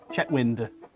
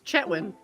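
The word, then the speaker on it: Chetwynd: kathleen's lived there and she keeps pronouncing the d chatwind it's like you lived there it's chetwyn yeah people just give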